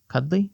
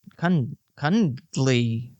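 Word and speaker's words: Cundey: Cuddley. No, he's not cuddly. He's cud Kundly.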